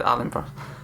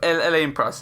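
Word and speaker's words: Alain Prost: Also always said Alan Press, but Elen Press.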